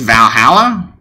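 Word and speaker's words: VA-11 HALL-A: I think it's Valhalla.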